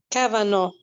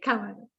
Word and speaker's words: Kavanaugh: Ya no quiero seguir pronunciando mal todos los nombres. Kavanaugh. Ok, Kavanaugh.